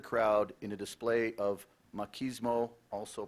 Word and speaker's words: machismo: word is as follows it has two main pronunciations it has several I'm only gonna give you the first two machismo also pronounced machismo machismo also pronounced machismo